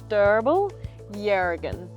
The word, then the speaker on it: Derbarl Yerrigan: So Derbarl Yerrigan. So in Noongar, the first syllable is what's accentuated.